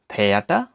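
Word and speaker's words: Theater: এর উচ্চারণ হয়ে থাকে টিএইচ বা বাংলা থয়ের মতো, এবং এর উদাহরণ হচ্ছে থেয়াটা, থেয়াটা, বা থিয়েটার, বাংলায় থিয়েটার বা সিনেমা হল যাকে বলা হয়, টেএইচ, থিয়েটার।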